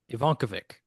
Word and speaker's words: Ivankovic: Ivankavic. Ivankovic.